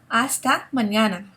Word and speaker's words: hasta mañana: Now, number 2, hasta mañana. Hasta mañana. Now, remember, we don't pronounce the H in Spanish unless it's a CH, okay?